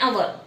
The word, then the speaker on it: hour: And an honest and hour.